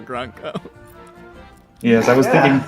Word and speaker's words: Grunko: I like that you've chosen a hard C for Grunko.